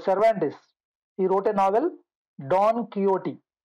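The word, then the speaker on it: Don Quixote: he wrote a novel Don kot the pronunciation should be kot Don kot so this is a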